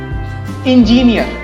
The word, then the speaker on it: engineer: Engineer नहीं. The correct pronunciation is engineer.